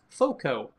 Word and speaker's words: FOCO: a bit yep that place is called is pronounced foco FCO and you right now can get 10%